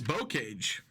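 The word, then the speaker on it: Bocage: we're starting on uh I looked it up it's bowcage that's how you pronounce it but we're starting with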